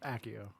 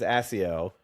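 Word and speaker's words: Accio: And so in my head, I'm always Aio. And then as I'm reading, I pronounce it AO. So I mean the double C, I'm like, "Yeah, AO." When I see the double C. How does Jim Dale? He says he says AIO, right?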